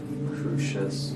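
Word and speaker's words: Crusius: How do you pronounce that? Crucious. Crucious.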